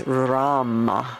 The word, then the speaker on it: Ram: in your solar plexus area and the one syllable Sanskrit Mantra is Ram with an R Ram r r breathing